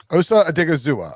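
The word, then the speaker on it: Osa Odighizuwa: uh give me the name how do you pronounce his name out of ucla osa or digizua osa a digozuwa okay that's easy enough yeah this class isn't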